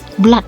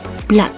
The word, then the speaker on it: blood: Kemudian di sini ada blood ya. Ada orang salah menyebutkan blood, bukan blood. Nah, di sini kemudian kita lanjut ke pronunciation problem.